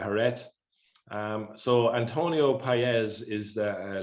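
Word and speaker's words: Jerez: the sherry producing region it's called hared j-e-r-e-z and again i'm pronouncing that probably horribly wrong with uh uh hurret so antonio paez is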